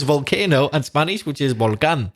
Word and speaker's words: volcán: So yes, the Spanish word is volcán.